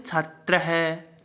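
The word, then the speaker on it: छात्रः: जब इसका उच्चारण करते हैं तो हम है की ध्वनि का उच्चारण करते हैं, है, हॉस्पिटल वाला है ना, है, तो हम इसको बोलते हैं छात्र नहीं बोलेंगे, इसको बोलेंगे छात्र है।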